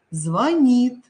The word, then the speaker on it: звонит: всегда с вами красивее звонит звонят созвонимся я уже вам сказала здесь ударение уходит за букву н свекла щавель столяр маляр